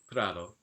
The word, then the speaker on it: prado: so here's an example it means meadow and this is going to be pronounced something like prado so it's kind of